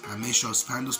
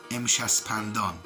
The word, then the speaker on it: Amshaspandan: You say Amesha Spantas, you pronounce it like this, Amesha Spantas, but the correct pronunciation of this is Amshaspandan.